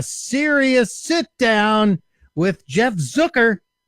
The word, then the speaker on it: Zucker: sit down with jeff zucker rhymes with hooker the head cheese over